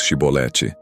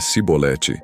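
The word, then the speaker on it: שיבולת: E dizendo ele: Não, então lhe diziam: Dize, pois, Shibolete. Porém dizia Sibolete, porque eu não podia pronunciar assim bem.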